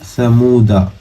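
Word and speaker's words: ثمودا: वाला औदउ, सा जबर सा, मीम वापिस मू, दाल जबर दा, समूदा, समूदा। यहाँ अलिफ नहीं पढ़ेंगे समूदा के अलिफ को, समूदा ऐसे नहीं खींचेंगे बल्कि जबर की आवाज खाली निकालेंगे यहाँ पे, समूदा।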